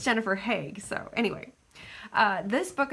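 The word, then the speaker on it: Haigh: name would be pronounced hi h a i g h but it's pronounced like the city or like Americans pronounce the city here in the Netherlands the heg it's Jennifer heg so anyway uh this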